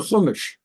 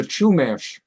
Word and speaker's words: Chumash: an Indian tribe here called the Kish they pronounce it the Chumash the Chumash tribe so